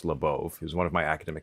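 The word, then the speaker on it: Labov: Beginning in the 1960s, William Labauove, the founding father of modern social linguistics, and yes, it's pronounced Labau, who's one of my academic adviserss, started documenting something happening across a huge swath of the United States.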